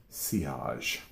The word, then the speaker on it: sillage: You will have a nice, oh my God, the word looks like silage. Okay. And it feels so funny to say it the way it's supposed to be pronounced, but I guess I'm